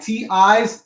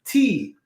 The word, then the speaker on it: ti: T-I's, you pronounce it as T. Okay. Just like M-I was me, T-I is T.